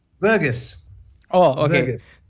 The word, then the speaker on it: Verghese: Verghese. Oh, okay. Verghese. As in Verghese. with a V.